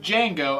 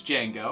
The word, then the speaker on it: Django: And today we're reviewing Django Unchained. The D is silent. The D is silent, Oh. but J is not.